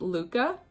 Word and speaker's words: Luca: It's pronounced Luca. Like the Italian boy named Luca. Yeah, like Hilary Duff's son, Luca.